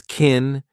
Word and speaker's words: can: Can is an auxiliary verb. It's there to ask the question. When is an auxiliary verb? We pronounce it as kin, unstressed, because the main verb is what you hear.